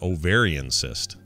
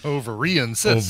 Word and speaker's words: ovarian cyst: broken hand and an ovarian cyst. I think I put the wrong emphasis on the wrong syllable. Ovarian cyst.